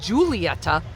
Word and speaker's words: Julieta: Julieta, spelled like Julieta, but J U L. We're not going to say it that way. It's Julieta.